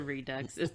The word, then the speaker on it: Redux: The Redux. Dork. Always pronounce the X.